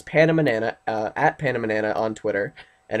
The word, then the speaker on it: PandaManana: If you speak Spanish, it's the same but pronounced differently, without the doink over the N. So it's PandaManana, at PandaManana on Twitter.